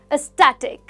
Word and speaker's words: ecstatic: the word is ecstatic the pronunciation is a static well we stress on stat static estatic well say it with me estatic perfect well estatic means